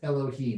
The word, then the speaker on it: Elohim: different vowels so it's pronounced Adonai that's it's pronounced Elohim but you can write Elohim it's not there's